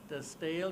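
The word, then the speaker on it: De Stijl: I don't speak Dutch, but everybody knows how to pronounce it. They pronounce somehow like the Stijl, it means the style.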